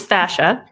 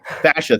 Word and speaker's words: fascia: subject first of all tell me how to pronounce it properly and then tell me yeah so it's fascia fascia thank you yeah the